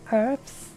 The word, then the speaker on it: herbs: You actually don't pronounce the H in herbs?